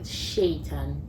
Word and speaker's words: Seyitan: I think my own was the pronunciation of my name. Nah. I had never. So my name is Seyitan, right?